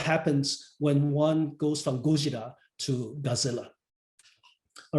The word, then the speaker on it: Godzilla: I insist on using Godzilla, the Japanese pronunciation, to talk about the Japanese version, and Godzilla to talk about the American adaptation, because I think they